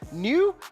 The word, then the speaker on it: Noi: This is coming from Makers, New, but it's spelled Noi. You have to do it right.